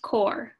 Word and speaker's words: Corps: Unbeknownst to the river, Congress charged the Army Corps of Engineers, pronounced Corps, lest you embarrass yourself in front of your future father-in-law, with keeping the Mississippi River en route and navigable.